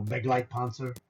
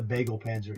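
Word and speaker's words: Begleitpanzer: Brownie calls it the bagel panzer. He can't pronounce German properly. So he he's like I can't say it. He goes it's the it's a bagel panzer which is a great name for it.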